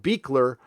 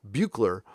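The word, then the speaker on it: Buechler: it's bu ECHL er it looks like bugler Bueller but it's pronounced beekler on the west coast it's pronounced bugler on the East Coast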